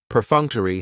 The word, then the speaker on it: perfunctory: Perfunctory has 4 syllables, and the stress is on that second syllable, that funk. Perfunctory. That third syllable has the schwa, and it's going to end with that long E sound.